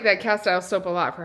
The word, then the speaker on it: Castile: We've got this pure castile liquid soap. Learned from you guys last week that I'm saying that wrong. It's pronounced Castile soap. Who knew?